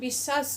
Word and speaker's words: বিশ্বাস: কারণ আমরা উচ্চারণে কখনো বিশ্বাস বলি না, আমরা বিশ্বাস বলি, অর্থাৎ তালব্যশের উচ্চারণেই হয় সবগুলো, বিশ্বাস।